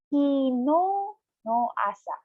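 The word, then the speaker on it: 昨日の朝: Again, kino no asa. You have to pronounce no of kino a little bit longer because there's another vowel attached to no.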